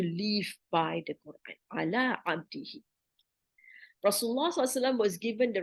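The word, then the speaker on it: عبده: Why not abdihu? Why he and not who? The pronunciation is smoother, right? So who is he? But he is also in Arabic is he. It's strange to say abdihu, doesn't sound so good, but it's abdihi, his slave, right?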